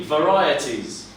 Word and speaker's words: varieties: Yeah, so we have like an I, so it's a long I sound. So it's an sound, and then T's. Yeah, like tea, like varieties.